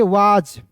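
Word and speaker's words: was: चलिए उसके बाद देखिए यहां पे डब्ल्यू एस तो इसे पढ़ेंगे वाज। क्या पढ़ेंगे दोस्तों? वाज। एस का उच्चारण यहां पे ज के रूप में करेंगे।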